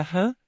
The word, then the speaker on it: Ham: Jan se escreve com as letras H, A e M. Sar se escreve com as letras S, A e H. A letra H, tem o som de R.